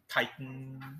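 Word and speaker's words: chitin: material uh fungi cell wall yes say again Titan okay depends on really where how you pronounce it but yeah c-h-i-t-i-n yes and the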